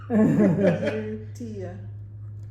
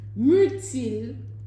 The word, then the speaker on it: myrtille: Myrtille. Blueberry. Double in L's. French. Yeah. Etim. Myrtle. Okay. Myrtille. Hold on. Myrtille, Myrtille. Myrtille. myrtille, Myrtille. You almost don't pronounce the L.